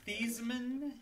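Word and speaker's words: Theismann: sizeman his name was thiesman and he and when he was at notre dame he changed the sizemen so that it would rhyme with heisman and he did not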